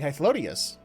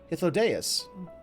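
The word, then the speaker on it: Hythlodaeus: bureau of the architect oh is that how that's supposed to be pronounced i've been saying height lodious but okay hithodeaus sulking beside me is the most honorable emmett selk of the convocation of 14.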